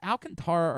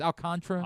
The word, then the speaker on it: Alcantara: Is it Alcantara or Alcantra? I think Alcantra. It's Alcantra. Alcantra. Feel like we do talk about Yeah, we talk about No, it is Alcantra.